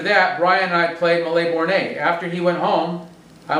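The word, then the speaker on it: Mille Bornes: He came over and we played Malais Bornay, or Milborns, as we call it, but it was a French game, so I think it's Malais Bornay.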